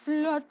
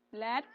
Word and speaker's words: blood: Mbak Arneng sih N jangan blot mbak cara bacanya betul coba bacanya jangan blot no please blat blat blat Apa?